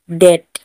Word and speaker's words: debt: बी का और एक रूल है, टी से पहले बी आए तो बी साइलेंट होता है। टी से जब भी उसके पहले बी आए तो वो बी साइलेंट होता है, बी का हम उच्चारण नहीं करेंगे। जैसे DEBT, डेट। टी से पहले बी आया इसीलिए बी का उच्चारण नहीं किया।